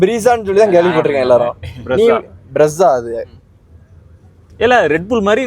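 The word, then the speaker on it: Brezza: இந்த கார்ல ஒரு நாள் இதை பிரீசானே ப்ரொனவுன்ஸ் பண்ணிட்டோம். எல்லாரும் அப்படிதான் பண்ணிருப்போம் நினைக்கிறேன். ஆனால் இது பிரஸ்ஸா போல.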